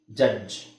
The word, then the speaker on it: ಜಡ್ಜ್: ಇಲ್ನೋಡಿ ಉದಾಹರಣೆಗೆ ನಾನು ಕಾಮನ್ ಆಗಿ ನಾವು ಯೂಸ್ ಮಾಡೋದು ಜಡ್ಜ್ ನಾವು ಇದನ್ನ ಹೆಂಗೆ ಹೇಳ್ತೀವಿ ಜಡ್ಜ್ ಜ ಈತ ಜಡ್ಜ್ ಜಡ್ಜ್ ಅಂದ್ರೆ ನ್ಯಾಯಾಧೀಶ ಜಡ್ಜ್ ಈ ಅವಶ್ಯಕತೆನೇ ಇಲ್ಲ